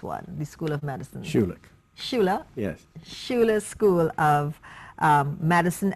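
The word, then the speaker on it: Schulich: Health at the, and I need help to pronounce this one, the School of Medicine. Shula.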